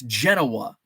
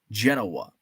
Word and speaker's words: Genoa: I is it Genoa in Italy it's Genoa uh in uh Illinois Genoa uh Cairo oh and